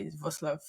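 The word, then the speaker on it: Wrocław: VAV V yeah actually the spelling and pronunciation are entirely different different yeah so it's w w r o c l a w so entirely different you would say walk or something but V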